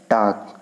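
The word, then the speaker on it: talk: और टाक, टाक यहाँ दोनों में क्या है, एल साइलेंट है।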